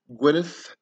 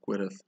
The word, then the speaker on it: Gwyneth: Her name is spelled with a TH at the end, but it would have been spelled, if you're spelling a traditional Welsh, it would have a double D at the end, so Gwyneth. But, you know, to anglicize it, you just put the TH there, because that's how you pronounce, you know, that's phonetically how it sounds like.